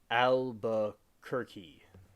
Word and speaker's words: Albuquerque: by the way the pronunciation is of the word is Albukerki. So we'll do that again. All right. So Albuquerque, New Mexico.